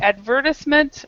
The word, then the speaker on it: advertisement: advertisement or advertisement. Both of them are correctly.